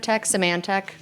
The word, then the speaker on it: Symantec: Veritas was then sold to Symantec, which I constantly mispronounce. Symantec.